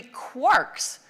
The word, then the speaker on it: quark: the illusion to three quarks seemed perfect. I needed an excuse for retaining the pronunciation quark despite the occurrence of mark, bark, and mark and so forth in Finnegan's Wake.